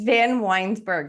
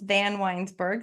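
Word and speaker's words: VanWynsberghe: say it for us it's van weinburg if you do it in three syllables van weinburg then it's not as scary don't worry everyone always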